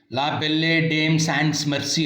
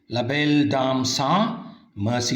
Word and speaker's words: La Belle Dame Sans Merci: La Belle sans Merci ಅಲ್ಲ, ಉಚ್ಚಾರಣೆ ಕರೆಕ್ಟಾಗಿರಬೇಕು ಸ್ನೇಹಿತರೆ. La Belle Dame Sans Merci.